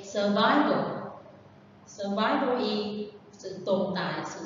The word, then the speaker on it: survival: Survival is a noun and the stress is on the second one. You have to say survival.